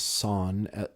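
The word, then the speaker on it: Sorn: was over for Thanksgiving and his name is son s-o-r-n okay I pronounce son's Uncle San was over for Thanksgiving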